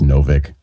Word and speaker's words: Novik: Is it Nowik or Nowik or Nowik? It's pronounced Novik.